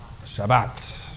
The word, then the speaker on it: Shabbat: the word for Sabbath how do you say that if you're a he if you're a Jew Shabbat right so how's that going